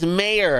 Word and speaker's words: Maher: It's Maher. It's Mayor. I go, he should have spelled it M-A-Y-E-R or M-A-Y-O-R. Whatever, you know. How do you spell M-A-H-E-R and you expect people to pronounce it Mayor?